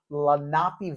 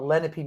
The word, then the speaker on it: Lenape: here in Bucks County, they call it Lenape Middle School, Oh, okay, yeah. but I Lenape. believe it's pronounced Lenape.